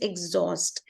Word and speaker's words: exhaust: okay so it is exhaust and these are again derived words these are Latin words so H will um be silent here so it is not